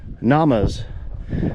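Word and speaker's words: gnamas: And you'll see that there's one of these pan holes, granite pan holes or namas. Um depending on your geographical location, you may also pronounce the G.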